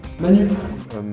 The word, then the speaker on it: Manu: ton prénonc c'est hein Manu Manou Manou parce que le U il ils connaissent pas le U ils connaissent le ou Toi tu'appelles comment ?